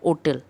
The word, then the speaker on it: hotel: For example यदि लिखा हुआ है HOTEL, होटल, बट उसको यदि प्रोनाउंस किया जाता है होटल, क्योंकि उसका प्रोनाउंसिएशन करेक्ट है ओटल।